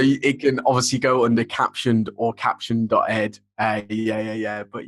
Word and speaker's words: Caption.Ed: product um which i'm going to call caption um is at the right pronunciation that's i would go with that because my name's and a captioned seems about seems fitting um um the